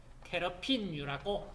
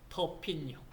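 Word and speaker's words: terpene: 테러핀유라고 얘기합니다. 테러핀은 독일식 발음이고 터핀.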